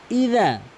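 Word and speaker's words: إِذَا: দেখুন এখানে ইজা এখানে অধিকাংশ লোক কি বলে জানেন? ইজা ইজা মানে জালের জায়গায় জিম এনে এনে উচ্চারণ করে।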